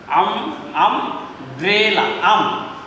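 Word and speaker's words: umbrella: আমব্রেলা, উচ্চারণটা কিন্তু আ হয়েছে, ইউ হয়নি।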